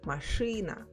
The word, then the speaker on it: машина: So for example, the word машина is written with e but pronounced with y, машина.